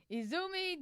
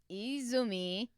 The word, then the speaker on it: Izumi: So, Izumi. Did I say that right? Izumi. I said it right. Or did I say something else? You put the emphasis in the wrong area.